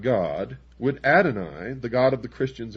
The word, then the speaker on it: Adonai: Pike continued, quote, "The true and pure philosophic religion is the belief in Lucifer, the equal of Adonai," unquote. Adonai also spelled, well, in the first place here it's spelled A-D-O-N-A-Y, and he says Adonai, also spelled A-D-O-N-A-I, is the Hebrew word for God.